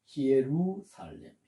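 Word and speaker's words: Ἰερουσαλήμ: 요것을 발음을 히에로 히에로 솔리마 히에로 솔리마 아고 발음을 합니다 아 그리고 두 번째 명칭은 스나바 219번 에루살렘 에루살렘 이렇게 발합니다 자 한번 드신 곳에서 아니면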